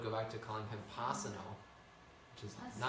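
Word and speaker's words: Pasanno: back to calling him Pasano. Once a year, he would say, Pa-san-no. One S, two N's. Pa-san-no. And then the next day, people would go back to calling him Pa-san-no, which is Pa-san-no.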